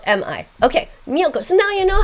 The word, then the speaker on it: Miyoko: Miyoko's cheese. Memorize the name, okay? Miyoko, it's M-I, and then Yoko, Y-O-K-O. Like Yoko Ono, do you remember her?